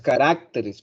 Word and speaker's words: caracteres: las que están ahí hay varios sustantivos que cambian el lugar del acento la sílaba tónica en la formación del plural y yo por ejemplo digo carácter y como se dice el plural no es caracteres porque si no y atildado y sería caracteres recordemos cuál es esa